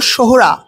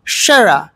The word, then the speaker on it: সোহরা: এই জায়গার আসল নাম ছিল সোহরা। ব্রিটিশরা তাদের সময়ে এই সোহরা শব্দটিকে উচ্চারণ করতে পারতেন না, তারা উচ্চারণ করতেন শেরা।